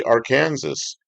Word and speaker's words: Arkansas: You know, there's a street in Witchah, Kansas that's spelled Arkansas, but they say our Kansas. That's what they call the street, but it's spelled the same as Arkansas.